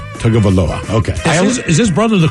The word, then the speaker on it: Tagovailoa: Tua Tagovailoa, he was benched during the Dolphins game for